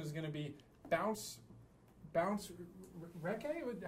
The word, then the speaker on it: Recce: And the topic of the presentation is going to be Bounce recce? How would you pronounce that?